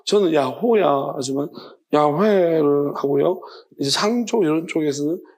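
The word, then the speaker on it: 야훼: 옛날에 성경에서 여호와는 지금 학자들이 다 발음이 그렇게 되는 거 아니라고 이야기하고 야회라고 하는데 뭐 그렇게도 뭐 발음이 될 수도 있지만은 야 저 우리는 야호야로 하나님이 야호라고 했습니다.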